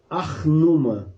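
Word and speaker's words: Ur-Nammu: anos antes existiu a lei eu vou até pronúncia certa arnoma essa lei essas leis elas vem 200 anos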